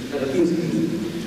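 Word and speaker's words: Баратынский: Non era forse, lo dico ai russi, il vostro Baratinsky, come si pronuncia così, Baratinsky, che diceva e parlava del volto comune e non comune, ma pur sempre del volto della poesia.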